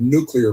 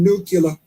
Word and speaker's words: nuclear: He couldn't even pronounce the word nuclear properly. Isn't nucula. Nuclear. It's not nucula. It's nuclear.